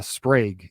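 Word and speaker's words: Sprague: Andrew Andrew uh Sprag is how you pronounce it. I just learned it's sprag, not Sprag.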